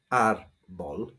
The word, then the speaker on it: árbol: N or S, but the stress on this word is not on the last syllable, it's on the first one, so we need the accent to show that.